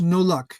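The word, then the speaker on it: Nollaig: Even those Welsh, Scots Gaelic, Irish Gaelic, the Irish Gaelic is pronounced no luck, as in you're out of luck.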